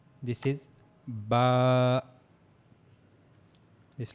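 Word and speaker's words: ب: Now how we have to pronounce this? Look at this picture. This is the makaj or the articulation point of the ba. As you can see here, we have to use our inner sides of the lips.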